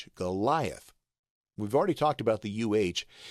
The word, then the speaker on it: Goliath: to the pronunciation key ye is pronounced as the Y in sky sky gai and then